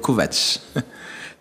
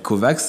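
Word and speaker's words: Kovacs: parce qu'il faut prononcer ça s'écrit k o V a c s mais ça se prononce à la slave c'estàd kovat c'est pas mal alors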